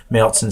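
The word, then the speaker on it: Märzen: The style, as I just said, is a Marzen, or as a lot of Americans pronounce it, a marzen, or an Oktoberfest.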